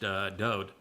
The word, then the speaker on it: Dode: It means beloved, and his name is pronounced Dode. And there is no V in Hebrew, and there's no source of the id in the name until centuries after Dode's life.